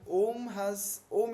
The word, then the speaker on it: Om: So it is important to understand how do you pronounce om. Om, I believe, pranava is also a beej mantra. So you pronounce it like the striking of a bell.